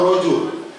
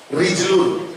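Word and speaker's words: رجل: Rijal atau rojul? Hurufnya apa rojul itu? Ro, jim, lam. Apa bahasa Arabnya kaki? Rijlun. Hurufnya apa? Ro, jim, lam. Sama. Yang satu dibaca rojul, yang satu dibaca rijlun.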